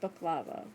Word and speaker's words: baklava: Did you say it's it's pronounced I believe it's pronounced baklava, not baklava.